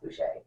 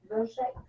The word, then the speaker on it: Boucher: It's like Bouchier, but I'm pretty sure that's pronounced Boucher. Boucher. Bobby Boucher.